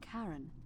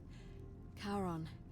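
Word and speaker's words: Charon: The name you heard wasn't Karen. It was C H A R. Aaron, of course. Kon, the fairyman of the dead. Karon, who in exchange for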